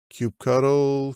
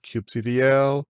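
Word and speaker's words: kubectl: Linux and windows and you pick your choice of pronunciation you control Cube cuddle Cube CDL doesn't matter it communicates with the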